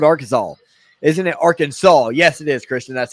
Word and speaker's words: Arkansas: to an scc school called arkansas isn't it arkansas yes it is christian that's how you pronounce it for some weird reason saint peter's